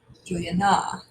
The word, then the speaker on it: Juliana: emphasize that first one Juliana has four did we say return to be accent should we say Juliana Juliana Juliana Juliana which one is accented if we say it correctly it's Julie and so it's that third syllables at accent so that's the first